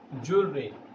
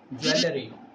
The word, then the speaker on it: jewelry: We pronounce it jewelry. What do you pronounce it? Jewelry. But many people pronounce it jewelry, which is wrong way to pronounce it.